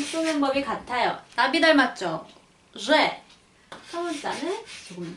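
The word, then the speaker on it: Ж: 이 쥐, 쥐, 러시아 사람들이 이 발음이 쥬욱, 그 벌 날개 소리랑 좀 비슷하다고 표현을 해요.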